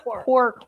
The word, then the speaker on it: Quark: Quark was the name of it. It's actually a U.S. company, but its headquarters is in Toronto. How do you spell that? Q-U-A-R-K, Yeah. like quack, but quark.